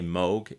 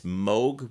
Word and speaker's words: Moog: remember how to say Moog it's Moog which rhymes with Vogue now you can impress